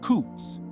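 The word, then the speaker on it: חוץ: The word that is translated outside is a Hebrew word, chutz, pronounced kutz.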